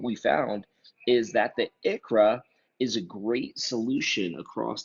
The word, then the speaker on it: ICHRA: The ICHRA, pronounced ICHRA, is an individual coverage health reimbursement arrangement.